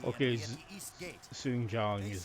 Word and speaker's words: Sun Jian: Among these brave warriors gathered from across the land is the heroic and ambitious Sun Jian.